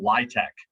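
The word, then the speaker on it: LIHTC: housing tax credits or some people pronounce that acronym ly tech this is a way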